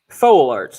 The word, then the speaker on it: Foewlarts: Okay, so it's spelled Foewlarts. Foal Arts, I pronounce it.